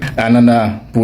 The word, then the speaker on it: ananas: Anana pour le registre soutenu et ananas avec le s prononcé pour le langage courant.